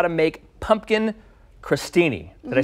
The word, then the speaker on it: crostini: how to make pumpkin crostini did I say it right yes do you know why it's spelled with an O but it's pronounced like crust no okay but you